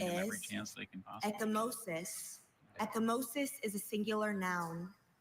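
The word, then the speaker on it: ecchymosis: Are there any alternate pronunciations? I have just echosis. May I have it in a sentence? A black eye results from echimosis. Can you say the word for us? Echimosis.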